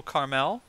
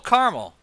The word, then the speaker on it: Caramel: this this is little Carmel right no did I just did I just say it wrong again little caramel Clint Eastwood is not